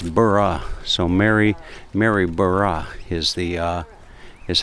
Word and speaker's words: Maryborough: be careful with that pronunciation because I would pronounce it as Mary burrow and b r o u g h but apparently it's burah so Mary Mary burah is the uh is how you pronounce it